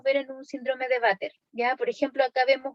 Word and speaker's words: VATER: Y en ese caso se mencionan las malformaciones de Vater o de Bacterl, ¿ya? Pero habitualmente uno lo pronuncia como Vater.